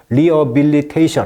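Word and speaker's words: rehabilitation: 그다음에 이제 reabilit리it이션 하면은 이제이 H가 묵음해요. 그래서 reilit이션 하면은 이제 재활 다시 살아난다.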